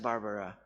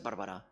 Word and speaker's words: Barberà: Diu, quan parlem anglès és Barbara. I quan parlo en maltès, amb la família, és Barberà.